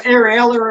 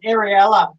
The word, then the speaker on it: Ariella: right ariel uh sorry am i saying your your your name right ariel uh actually i pronounce it ariella ariella okay let's see but i always think of ariel who was the mermaid and one yeah yeah i hear you know i i get both versions um and we sort